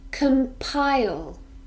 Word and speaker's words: compile: maybe 24 or 36 compile this is a verb and it actually has three syllables come PI yo we stress the second syllable compile compile it means to